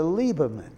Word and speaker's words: Lieberman: IE would be pronounced E, such as in Senator Lieberman.